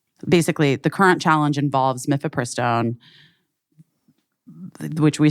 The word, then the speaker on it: mifepristone: Mifepristone.